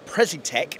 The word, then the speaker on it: Precitec: Okay, guys, so today I'm joined with Frederick from Precitec. Is that how we pronounce it?